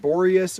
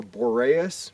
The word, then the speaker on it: Boreas: here at borus pass it's either pronounced borus or boreas but today I will